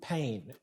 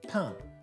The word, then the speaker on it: pain: say bread Cathal though even though it's spelt the same don't catch yourself saying pain because it's pronounced tongue so how will we